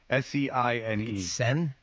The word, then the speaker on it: Seine: Seine. Seine? Like the Seine River? Seine.